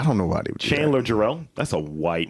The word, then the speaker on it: Jarrell: in the movie Chandler remember he kept saying Harrell why do you keep messing up mispronouncing my name man yeah I don't know about it Chandler Jarrell that's a white name because that's what they